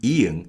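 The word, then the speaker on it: ㅇ: with a vowel sound we can use ian as ian does not have a sound of its own so oil in korean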